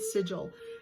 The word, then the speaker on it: sigil: The sigil are the signs, that's how you say it, sigil.